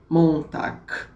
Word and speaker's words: Montag: Então a gente tem segunda-feira, Montag, é com G, mas tem um som de K.